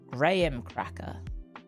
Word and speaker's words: graham cracker: It's pronounced like Graham. Oh, graham crackers! It's spelled Graham? Okay. I'm starting to think America's taking the piss. How the fuck do you pronounce a name? The name is Graham. If you met a person called Graham, you're not gonna call him Graham, unless he's your grandpa, I guess.